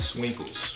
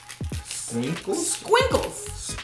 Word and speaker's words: Squinkles: Let's try these let's try these Swinkles first. No, you're saying it wrong, babe. Squinkles.